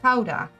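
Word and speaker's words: Gouda: good yes tell me the correct way to say guda so in Dutch it's Howa so people people rarely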